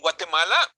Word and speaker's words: Guatemala: In Guatemala, without the not double L.